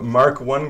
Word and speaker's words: Mk: the first card of the pack is the mark 1 grenades I think is how you pronounce MK right yep mark 1 grenades it is a level 4 3 cost